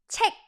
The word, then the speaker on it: 책: Book is 책. Like, when you have to check something, that's the same exact pronunciation. Check, check, check without the K at the end. So 책 읽는 거 좋아해요.